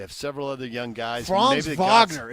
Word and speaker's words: Wagner: Vagner. It's spelled Wagner, but I'm supposed to pronounce it Vagner.